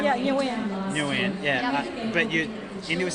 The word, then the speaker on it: Nguyen: my Asian students stop me from mispronouncing names because the whole running joke is me mispronouncing white names. So your name's Suzanne, right? Yeah, Nguyen.